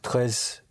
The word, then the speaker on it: très: Très différent. Like that. Comme ça. Right. Ce n'est pas très différent comme ça. Yes. But it is very important for me. Mais c'est très important pour moi.